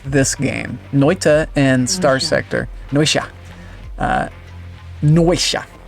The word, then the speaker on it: Noita: Noita. I like to pronounce it Noitia for some reason, like there's another I in it. It's not the case.